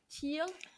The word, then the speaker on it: Thiel: Peter, how do you say, Thiel, Peter Thiel.